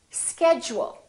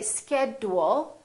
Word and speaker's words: schedule: picture this also happens when a d is followed by a u this change also happens however it's slightly different instead of saying chew it sounds like we're saying jew for example we don't say graduate it sounds like we're saying graduate repeat after me graduate graduation let's try a few more words we don't say educate we say educate education schedule we don't say schedule we say schedule one more word individual repeat